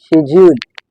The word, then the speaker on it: schedule: इसके बाद third number पे हमारे पास जो वर्ड है वो है schedule, schedule, schedule in British English.